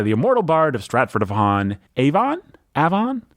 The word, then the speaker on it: Avon: immortal bard of stratford-upon-avon a Vaughn a fun a fun is how we pronounce it that's the first piece